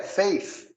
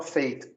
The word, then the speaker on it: faith: Por exemplo, um dia você vai querer falar fé, faith, e você não fala, você fala faith. Faith é destino. Tem nada a ver. Faith é fé.